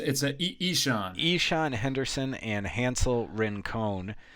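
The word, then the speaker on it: Ixan: I'm going to screw up the pronunciation of this again. Oh, it's a Ishan.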